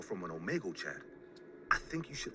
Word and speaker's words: Omegle: I almost got up in a rush and said, yes, I met him in Omegle. But how do you know? Bro, did you just pronounce it as Omegle? It's Omegle.